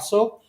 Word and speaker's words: Aso: And because New Zealand has got a lot of volcanoes, so Well, Kyushu Island have a volcano called Mount Aso, not ASO, to in case I pronounce it wrongly, you know.